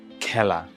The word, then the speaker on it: খেলা: বিবৃত সংবৃত যেমন মেঘ আর যখন বিবৃত তখনটা আসলে এ হয় না তখন উচ্চারণটা এ হয়ে যায় যেমন খেলা খেলা ঘর বাঁধতে এসেছি এ